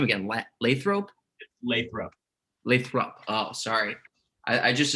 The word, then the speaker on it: Lathrop: Lathrop.